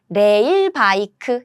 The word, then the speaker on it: 레일 바이크: And 레일 바이크 is how we pronounce this word, rail bike.